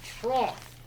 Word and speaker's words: trough: a stupid language for instance the correct correct pronunciation is trough right trough i kid you not now if that's trough